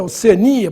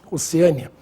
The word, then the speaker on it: Oceania: oceânia e Oceania né a forma mais usada Sem dúvida nenhuma é Oceania pro continente portanto sem acento embora alguns falem oceânia deve ser por causa de oceano deságua desagua bom nesse